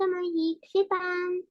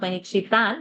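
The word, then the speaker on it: महीक्षिताम्: च मही सर्वेषां च महीक्षितान् महीक्षितां not महीक्षितान् महीक्षितां correct.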